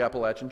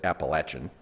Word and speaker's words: Appalachian: i'd like to talk to you about the appalachian trail the chaplaincy and how trusting the lord